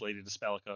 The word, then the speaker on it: Lady Dispellica: She stops everything else because she's Lady Dispellica, and I know I've said it 3 different ways, but it is Lady Dispellica according to the way it's spelled.